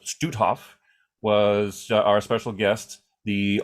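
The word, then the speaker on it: Stoothoff: everybody yes excellent um eric studof uh it's pronounced stutthof was our special guest the office of the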